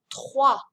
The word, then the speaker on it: trois: this vowel combination, O-I, which does not make an oi sound like it would in English, but rather wa. Combine that with this French R, and you get kind of a tricky word to pronounce. Listen carefully. Trois. Trois. I say the R in my throat and then the wa, and notice I don't pronounce the S.